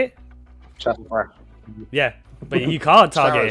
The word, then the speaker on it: Szarekh: Szarekh? Is that how you say it? Szarekh.